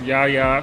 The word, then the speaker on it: Yahya: but in Arabic, my name is pronounced Yahya, so I go by Yahya.